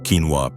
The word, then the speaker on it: quinoa: Number five, quinoa. It's small, it's versatile, and it's often misunderstood. Quinoa, pronounced quinoa, may resemble rice or couscous at first glance, but it's not a grain.